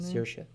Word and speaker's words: Saoirse: Saoirse. Saoirse Ronan, Lady Bird, and Meryl Streep, The Post.